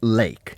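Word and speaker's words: Lache: uh Jerry L uh l a c h e ah pronounced lake is that the one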